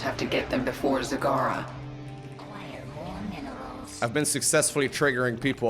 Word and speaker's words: Zagara: stream by the way pronouncing Sagara as Zagora for a while my evil plan it's been going very well it's not very evil it's just fun to see people get very upset over over me on purpose mispronouncing your name some people